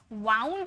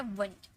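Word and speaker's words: wound: बस ये जो ओ यू है लेकिन इसे वाउंड मत पढ़िएगा। कभी भी इसे वाउंड मत पढ़िएगा। यह है वंड।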